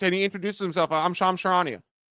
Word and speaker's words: Charania: I'm Shams Charania. Like, it's unbelievable. People wouldn't mispronounce Woj.